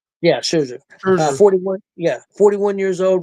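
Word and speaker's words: Scherzer: Is that Sherzer? Yeah, Sherzer.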